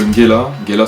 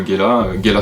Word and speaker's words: Ngela: L'île de Ngela Soulé, le N se prononce de manière un peu aspirée aussi.